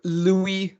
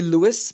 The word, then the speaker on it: Louis: And in French, the last letter of a name is always pronounced as silent. So right, even if it is S, it would be pronounced as Louis.